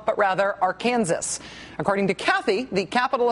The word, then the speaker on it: Arkansas: Sandy tells us, quote, "If you live in Kansas, the R Kansas River and R Kansas City are not pronounced Arkansas, but rather our Kansas."